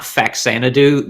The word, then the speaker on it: Faxanadu: It's actually not Faxanadu. The game is properly pronounced Famicom. Fazanadu. Famicom Xanadu. Yeah, because it was a Famicom Xanadu game.